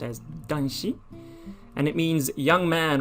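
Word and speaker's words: 男子: man and the country for child and it's pronounced as dunshi and it means young man or boy oh it's not tanchi but danchi i have to add the tent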